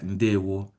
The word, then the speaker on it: Ndewo: You see how it's spelled Ndewo, just like is pronounced just like it's written, right? Yeah, that's correct. Ndewo. And you know that the O there does not have a dot under.